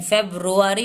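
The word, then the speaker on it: February: ए आर वाई फरवरी ऐसे लिखेंगे लेकिन नहीं फेब्रुअरी होता है रोरी तो यह गलत हो जाएगा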